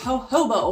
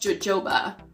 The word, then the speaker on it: jojoba: now number 10 is hobo oil not pronounced jojoba Coco but I know that's a crazy word cuz it's for J's but this is very